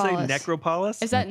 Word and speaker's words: Necropolis: necropolis? Is that not Necropolis? Necropolis. Necropolis. You put the wrong emphasis on the wrong syllable.